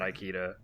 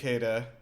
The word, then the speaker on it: Ikeda: It's not Ikeda. It's Ikeda.